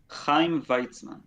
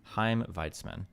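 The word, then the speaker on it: Chaim Weizmann: the Turks, who later sign an agreement with Kim Wiseman uh or Vitzman. How do you pronounce this guy's name? Kheim Vitzman. Kheim Vitzman and other Zionist leaders during the 1919 Paris Peace Conference.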